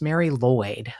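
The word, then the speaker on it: Mari Lwyd: yeah um Karina sent me a Mary it's pronounced Mary lloy but it's m a r i l WYD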